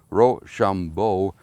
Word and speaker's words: Rochambeau: Our watchword was Rochambeau, the commander of the French forces' name, a good watchword for being pronounced Rochambeau. It sounded, when pronounced quick, like rush on, boys.